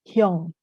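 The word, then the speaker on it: 형: Nah, ini bacanya hyong.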